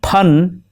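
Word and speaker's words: پھن: be taken lightly because fun with a fa in Urdu means art, but pun with a pa means hood of the snake. Be careful, a small mispronunciation can turn your art into a snake.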